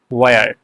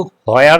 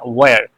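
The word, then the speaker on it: where: এটার আগে কোথায়, কোথায় ইংরেজি হচ্ছে ওয়ার। এটা কিন্তু হোয়ার না, এইচ এর উচ্চারণটা অনেক বেশি আসবে না, ওয়ার।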